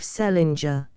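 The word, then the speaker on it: St. Leger: married an Irish ishman of the name of Selinger which was the usual way of pronouncing the name of Saint Leeder or as they spelled it send Ledger restored by later generations to the still older form he was a reckless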